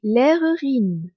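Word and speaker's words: Lehrerin: professeur quand c'est une femme se dit dit l'erurine l e h r e r i n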